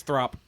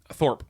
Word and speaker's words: Thorp: Oh, that's Throp. Thorp. I keep getting that name wrong.